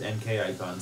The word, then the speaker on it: MK Icon: MK Icon, who is pronounced NK Icon, says that they've doubled their playtime with Godmaster.